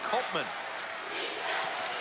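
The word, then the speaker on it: Koopman: is their go-to guy it's KO o p m but it's pronounced Colman Chad Peterson three-pointer they're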